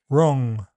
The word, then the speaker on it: wrong: W is silent in some words. Sword, to, answer, who, whole, and in all words beginning WR. Wrong, wrist, writer.